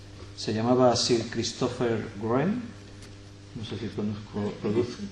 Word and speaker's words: Wren: llamaba así el christopher wren no se producen pronuncia se escribe w r cómo se pronuncia r yo no conducción segura